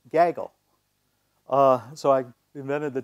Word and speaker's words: Gaggle: ggl and it's pronounced Gaggle uh so I invented the term Gaggle Theory and I emphasize it's Gaggle as in a gaggle of geese right not giggle if you want to